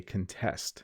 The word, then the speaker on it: contest: But in the verb form, you would say contest. So you're going to try and contest the other team to see if you can win. Slightly different pronunciation, exactly the same spelling.